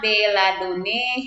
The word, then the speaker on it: belladonnae: di tulisannya demi sahnya belladonnae herbal tetapi ibu membacanya Bella Doni herba Nah karena sekarang di